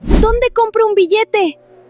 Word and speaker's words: billete: In authentic Spanish pronunciation, that double L makes a crisp Y sound. Actually, scratch that, it's not a hard L at all. It's not billete, it's billete.